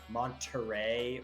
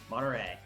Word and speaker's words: Monterey: lazy Southern California draw we don't pronounce the t's in a lot of stuff so you would never never say like Monterey or Huntington Beach it's like Monterey honey it's not quite